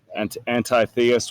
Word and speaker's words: Antitheus: We developed a new antagonist called Antitheus, Antitheus with a silent T.